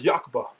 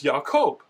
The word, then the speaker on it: Yaaqob: is sometimes dropped and no one says Yaaqba. Everyone says Yaaqob.